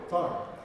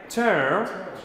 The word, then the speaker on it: turn: Turn. Ok, no se pronuncia como una U, se pronuncia casi como una E. Turn.